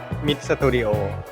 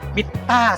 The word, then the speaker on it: MITTA: ครับ 1 2 3 ID Studio ตอบ ว่า ID Studio ID Studio ผิด นะ ครับ ขอบคุณ มาก ครับ อ่า มิต้า สตูดิโ ครับ มิต้า เหรอ ใช่ ครับ ผม ขอบคุณ